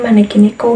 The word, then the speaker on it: maneki neko: Nah, itu namanya maneki neko, guys. Gimana sih pengucapannya?